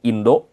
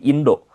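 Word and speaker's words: インド: India ini agak mirip ya dia Indo. Kalau India itu bukan India ya, tapi Indo. Walaupun di bahasa Inggris dia tetap India tapi bahasa Jepang agak beda.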